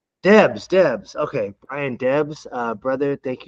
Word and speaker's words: Debes: Debes.